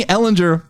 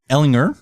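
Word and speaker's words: Ehlinger: Ellinger or Matt Ryan is it Ellinger my screen I think it's Eleanor yeah on that soft G buddy who's better I don't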